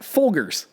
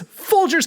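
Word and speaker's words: Folgers: Uh, I had somebody say to me they got Fulgars Fulgars coffee.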